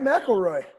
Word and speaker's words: McElroy: You said it right, McElroy.